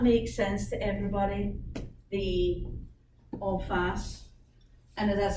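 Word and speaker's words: en face: all fast? Like, how do you spell it? E-N, F-A-C-E. It's French. E-N is two words. E-N and then F-A-C-E.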